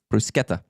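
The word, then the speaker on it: bruschetta: is is phenomenal uh Bronco Nick brusketta is pronounced one way in Italy it's a hard sea like a k brusketta so there you go you learned that there's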